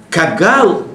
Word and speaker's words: кагал: Кагал, конечно, тут «г» – это русское произношение «г», кагал.